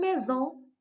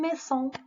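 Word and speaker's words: maison: اون ميزون، ما قلناش اون ميسون، قلنا اون ميزون. مي باش تقرا لينا س، دونك اون فا اجوتي اس وحده اخرى، دو اس، دونك دو اس كتنطق س، ولكن اس وحده اونتر دو فوايل كتنطق ز.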